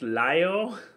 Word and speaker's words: Lio: aqua teen hunger force your screen name is pronounced lyo yes it's the reason pronounced lyo is because my screen name comes from oddly